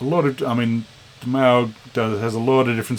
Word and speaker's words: Moog: So it's got, but played with the, I always thought it was Moog, but it's Maug apparently. It says it on the back. That's how you pronounce it. What does it say? Yeah, the vowel sound is like Mao instead of rather than Moo.